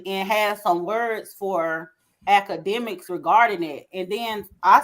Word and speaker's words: Akademiks: for saying that DJ I said it right academic yeah they went on the he went on